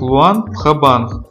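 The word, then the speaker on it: Luang Prabang: Буквально його назва означає королівський образ Будди і вимовляється саме як Луан в Хабанг. Так як буква Р в лагоській мові не читається.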